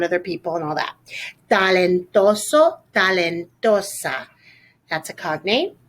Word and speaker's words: talentoso: Talentoso, talentosa. That's a cognate. Careful with your T pronunciation. We don't want a lot of air coming out.